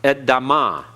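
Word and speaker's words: אדמה: is AB okay Adam notice we have a hottest pathic so it's just an uh sound edama edama edama okay the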